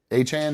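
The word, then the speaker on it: Achane: Achain. Han. I don't know how to say his name. Chase Brown went Achan. That's how you say it.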